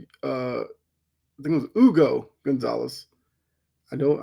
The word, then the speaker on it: Hugo: They take So Adam Silver pronounced it uh I think it was Ugo Gonzalez. I know I know in Spanish the H has a different sound. So, Ugo Gonzalez, who I've seen 66, 67, he's like 210 lbs.